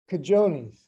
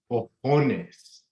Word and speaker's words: cojones: Nah, you keep pronouncing the j, bro. Don't do that. You gotta clear your throat a little bit on the ho part.